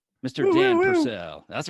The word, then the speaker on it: Purcell: Purcell.